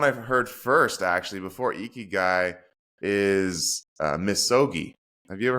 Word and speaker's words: ikigai: there's a Japanese principle of I'm going to mispronounce this, but Ikigai. Ikigai.